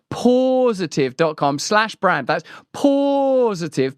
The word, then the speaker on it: Pawsitive: use it go to positive that's spelled like P A W positive.